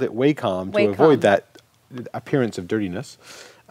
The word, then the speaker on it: Wacom: in to us now I've heard it pronounced wacom or wacom how would you pronounce this word welcome welcome mm-hmm wacom my conscious so if you take away the M it's like Waco so my comm sounds vaguely dirty to me I don't know why